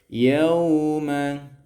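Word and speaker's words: يَوْمَ: Wa anzirhum yawma, di sini ada ya waw sukun bertemu dengan huruf sebelumnya berharokat fathah ya, dan ini ya itu bacaannya namanya lin itu lentur, lin ya. Nah, lentur bacanya yauma seperti itu.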